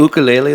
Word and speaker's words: ukulele: Yes, I borrowed my friend's ukulele because I had the idea 5 days before the show, And I was is like, ukulele the ukulele. Yeah, Yeah, I that- think that's how the Hawaiians pronounce it.